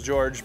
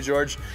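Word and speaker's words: Djordje: To get the day started, we have a video submission from George, and I think that's how you say his name, because it's D-J-O-R-D-J-E. So I'm going to pronounce that as George, because honestly, as a Anglophone, that's the best I can do.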